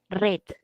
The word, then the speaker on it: read: había mencionado AC dice el verbo en pasado se lee red lo que les mencionado